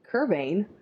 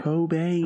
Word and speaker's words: Cobain: did but cban cocaine kbane who the hell is kban I've been saying his name wrong Kurt Cobain Cobain hold on one second